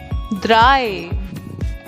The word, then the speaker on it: Drei: Drei. Drei. So, just note down this thing that EI is always I.